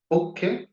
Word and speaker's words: पुख: शनि के नक्षत्र है पुख जिसे पुछ भी कहते हैं लोग ऐसे पुख का उच्चारण होता है पुख अनुराधा उतरा भाद्रपद पुख